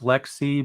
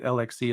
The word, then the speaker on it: LXC: that correct yeah yeah and it's weird it's pronounced Lexi but I I might say lxc as well out of habit because before I